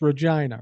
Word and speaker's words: Regina: Anyway, I'll just say it's pronounced Regina, right?